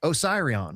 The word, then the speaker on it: Osiris: Like the Osiris, people say it's Osarion or Oyion. It's a temple dedicated to Osiris. Thus, the pronunciation is Osiris. It's not Oyerion or Osarion. It's Osiris.